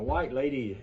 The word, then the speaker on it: Whyte Ladie: a vega style white lady tone ring now white lady is spelled w h y t e l a